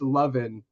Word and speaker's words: Loven: No, it's actually pronounced Loven.